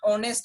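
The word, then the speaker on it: honest: इथं एच ने सुरुवात झालेली आहे बट एच is silent here. आता इथं आपण हे वर्ड रिडिंग करत असताना ऑनेस्ट असं रिडिंग करतो आणि त्यामुळे मित्र इथं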